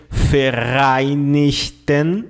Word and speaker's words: Vereinigten: The letter V in German has the sound of the letter F. F, okay? You say Vereinigten Staaten.